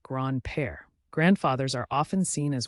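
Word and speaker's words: grand-père: bond in the family Grand pair means grandfather pronounced gr PA grandfathers are often seen as wise and experienced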